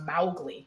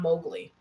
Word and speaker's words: Mowgli: It's actually pronounced Mowgli, not Mowgli.